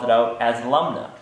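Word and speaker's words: Lumnah: of funny because it the way it looks is how it sounds Lum n and that's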